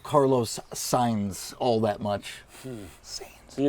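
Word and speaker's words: Sainz: Boogie was sitting right here because he was mispronouncing his name. And now we're back. It's signs.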